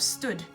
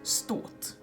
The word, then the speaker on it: stått: which means to have stood uses a short because there are two constants afterwards so it's stopped and not Stewart this is not Stewart that's very wrong its spot and sometimes people probably accidentally